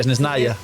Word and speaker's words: Snezhnaya: Que se dice así, Snezhnaya. Snezhne. Snezhnaya. O sea, se pronuncia lo último de Snezhnaya.